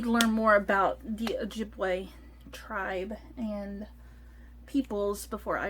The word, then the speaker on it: Ojibwe: both in our hometown and on the nearby a jebby a job we i need to learn how to pronounce that and in our ojibwe language ojibwe so okay both her hometown and on the